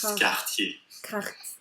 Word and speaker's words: quartier: it directly, but it's quartier. Quartier. Yeah, it's not like the r in Spanish, but it's not like the r either. It's like a softer Spanish, like quartier.